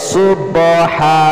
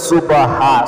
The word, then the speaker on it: সুবহানাল্লাহি: সহি শুদ্ধ উচ্চারণটা শিখুন অনেকে বলে সুবাহা সুবাহা বললে হবে না গলার মাঝখান থেকে চাপ হবে এটার মাখরাজ হল কি হলকের মাঝখান থেকে উচ্চারিত হবে বলকের শুরু থেকে হা